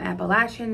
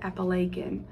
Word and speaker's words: Appalachian: that it was pronounced I understand people call it appalation um Appalachian is how we say it Appalachian makes sense but this person called it appalachin I've never heard it pronounced that way um they said they